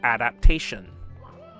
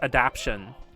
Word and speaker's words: adaptation: 1998 and later where they cannot pronounce the word adaptation. I don't know why, but so many younger millennials and Zoomers pronounce the word pronounce it as adaption.